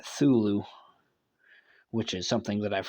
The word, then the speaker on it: Cthulhu: Because, like I said before, I think it's interesting that the AI goes with the silent C version of Cthulhu, making it Thulu, which is something that I've heard people do too.